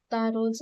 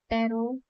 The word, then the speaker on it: Taro: Book का 3rd chapter तारोज reward की summary करेंगे पहले और फिर उसके एमसीक्यूज करेंगे। चलिए एमसीक्यू स्टार्ट करते हैं। टैरो या इसको तारो भी बोल सकते हो, दोनों प्रोनाउंसिएशन ठीक।